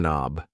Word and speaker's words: knob: This thing here is a doorork knob. A door knob. Yes. The K in knob is silent.